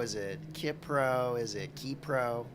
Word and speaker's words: Ki Pro: is it kypro is it kpro is it kpro it's actually kpro and it's actually Aja so